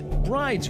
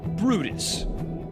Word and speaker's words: Bryde's: The common version is Bryde's whale, but many use the original Norwegian pronunciation, Brydis.